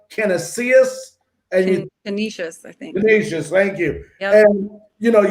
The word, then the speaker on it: Canisius: was, against a school called, I think it's pronounced Canisius. Canisius, I think. Canisius, thank you.